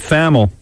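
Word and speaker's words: Thamel: Now, Pete Famel, T-H-A-M-E-L. I think that's how you say it. Pete Famel. Not Pete Hamill.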